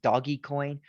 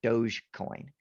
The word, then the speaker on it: Dogecoin: And I don't know if this is pronounced doggy coin or Doge coin. You'll hear both.